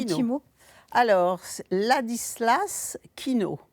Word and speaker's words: Kijno: mot alors la dislas Kino ça s'écrit Kijno ça se prononce c'est pour ça je